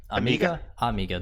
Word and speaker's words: Amiga: How do you pronounce it? Amiga, right? Amiga, that's what it was.